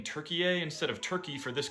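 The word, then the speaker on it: Türkiye: Turkiye is an anglicized pronunciation of Turkiye, which is what we call an endonym.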